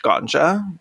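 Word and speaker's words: Gonxha: that her little name her middle name is pronounced ganja i'm like absolutely obsessed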